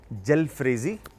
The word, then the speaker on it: Jalfrezi: हो रहा है फ्रेजी, तो झल फ्रेजी है बेसिकली। तो उस वहाँ से ये बनना शुरू हुआ कलकत्ता के अंदर से, और इसका नाम फिर बाद में जल फ्रेजी प्रोनाउंस इसको करना शुरू किया और ये रेसिपी क्रिएट हुई थी।